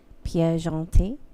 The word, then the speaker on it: Pierre Gentil: So the writer is in English Pierre Gentil, but in French I believe it's pronounced Pierre Gentil.